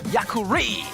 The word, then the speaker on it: Yakuri: Yakuri is the right way to pronounce.